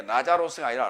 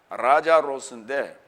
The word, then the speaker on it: 라자로스: 그러니까 나자로스가 아니라 라자로스입니다. 라자로스인데 이 라자로스가 어디서 왔냐 그랬더니 히브리어에서 왔는데요.